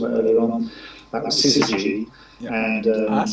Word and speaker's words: Syzygy: That was Syzygy. And that's how you pronounce it. Yeah, I know, it's a tricky one. And so we did the Syzygy remix, and then before long I've got 4 mixes.